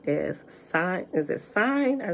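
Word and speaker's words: sine: cn is pronounced as sign is a sign i say is s-i-n-e is it sign it's not seeing sign like sign like that sign says hello is it oh as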